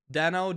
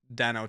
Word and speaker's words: Deno: when did he switch from pronouncing it Deno to dino though the system yes